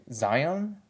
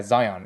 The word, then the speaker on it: Zion: The previous name was Shion, and now based on Zelon's logic, or in English terms, his name is actually pronounced as Zion. Yeah, Zion.